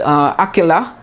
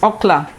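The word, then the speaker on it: אכלה: If it's akela, the vowel is a long A and the word is divided as akela, which means she ate. But without the metheg, the bridle or it's like the vertical line in there, without the metheg on this one, then it can be pronounced as okla.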